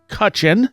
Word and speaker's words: Cutchin: go and I have uh looks like kutchen heyy you pronounced my name right first time like five